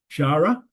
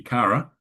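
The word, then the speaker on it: χαρά: And Shara, I'm pronouncing the H here, it should be Kara.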